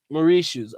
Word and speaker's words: Mauritius: that's what's up so my man says it's pronounced Mauritius Murray shoes ok good God Almighty